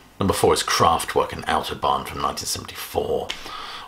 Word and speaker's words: Autobahn: Number four is Kraftwerk and Autobahn from 1974, or Autobahn if you're going to use your very plummy home counties accent, but I think the German pronunciation is more Autobahn.